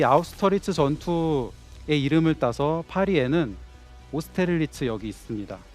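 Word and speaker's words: Austerlitz: 전투의 이름을 따서 파리에는 오스테를리츠 여기 있습니다 프랑스식으로 발음을 하게 되면 오스테를리츠라고 합니다 저희 오스텔리츠역 이름을 이름이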